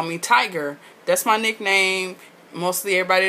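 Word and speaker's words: Tygrr: also how Spanish people spell cologne, and it's pronounced cologne. But to avoid all of that, really, y'all can just call me Tiger.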